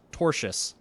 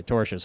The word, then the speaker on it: tortious: The Brander Group is suing EA Sports for, it's pronounced tortious, interference over the gaming company's attempt to retain